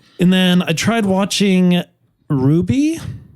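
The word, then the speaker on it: RWBY: that's too bad and then I tried watching Ruby spelled rwb y but they say it is pronounced Ruby it's an American show but they it's the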